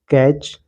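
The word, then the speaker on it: catch: टू, सी ए टी सी एच, कैच, यहाँ पर T silent है, कैच।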